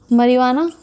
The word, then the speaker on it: marijuana: Hashish, चरस, marijuana, इसमें जे आएगा जिसको साइलेंट रखते हैं एज प्रोनाउंसिएशन में, और आपके आएगा गांजा।